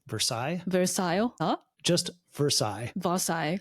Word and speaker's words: Versailles: of The Rose of Vario. Versailles. Versaille. Huh? Just Versailles. Versailles. Cuz it's pronounced differently. Japanese. I only know the Japanese pronunciation. Yeah. I mean, the Japanese pronunciation is based on the French pronunciation.